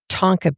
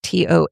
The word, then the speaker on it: Tonquin: Tonquin beans or Tonka beans. They're called Tonka beans in the book. They are actually Tonquin, Tonquin.